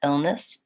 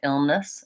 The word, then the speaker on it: illness: get that illness illness it's really debatable what vowel I'm using in that second syllable I don't want to do ill Ness with the FI illness nope I don't want vowel clarity there but even if I use kind of a reduced quiet illness illness you can hear that there's not a significant difference between these vowels in that unstressed syllable so a great question